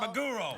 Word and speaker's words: maguro: Is that your accent, or is there really a mago? No, maguro. roll? Yeah, it's maguro. I know. Spell it.